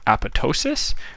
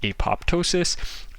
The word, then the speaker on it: apoptosis: By the way, that kind of programmed cell death is called apoptosis, which is spelled like this. You'll also hear it pronounced apoptosis, and that's the term for programmed cell death.